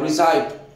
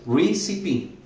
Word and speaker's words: recipe: Una palabra de cuidado, puesto que uno la ve como hispano y quisiera pronunciar recipe, pero la lógica nos engaña acá y es recipe, recipe.